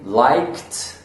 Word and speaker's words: liked: I really liked. I liked the movie. So you're not even going to hear the ED sound. It's a very quick T sound.